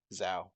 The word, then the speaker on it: Xiao: an hour uh z zoa is that how you pronounce that zao oh okay that's how you spell xiao uh xiao left with